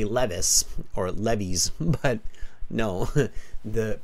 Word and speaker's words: Levi's: software developer for a well-known global clothing brand, Levi's. I handle their software back-end system. By the way, notice the pronunciation on this.